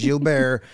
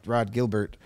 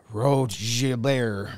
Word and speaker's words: Rod Gilbert: It's Gilbert. But when you put Rod Gilbert on a piece of paper in Chicago, it's going to get pronounced Rod Gilbert, not Rod Gilbert.